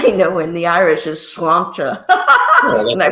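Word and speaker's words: sláinte: in the Irish is slancha probably mispronounce that also no slancha perfect it means cheers but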